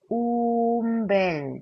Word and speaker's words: un bel: 운 다음에 벨이 나왔을 때는 운벨이 아니라 움벨이라고 합니다. 움벨. 그래서 운베소가 아니라 움베소라고 하거든요. 그래서 여기는 n이 아니라 m이라고 발음하셔야 돼요. 그래서 umbel di vedremo라고 발음하십니다.